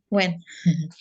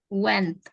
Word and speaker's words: went: kedua ini cara bacanya ini pakai T belakangnya buka. Kalau tadi kamu ngomongnya tuh kayak gini. When Went, ada T-nya. Went, Went. bukan when. Went. Went. Ya. Went, kan beda.